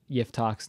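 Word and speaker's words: יפתח: My humble opinion, my amateur opinion, Jephthah is a really bad transliteration of Yiftach's name, of this character's name, because it's not actually how you're supposed to pronounce his name in Hebrew.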